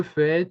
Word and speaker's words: fais: So you can see here that we don't hear the S, we don't hear the T. So it's basically the same pronunciation as in every person, even though the spelling is different.